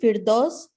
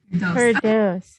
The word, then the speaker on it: Firdaus: E silent, Firdaus. Firdaus.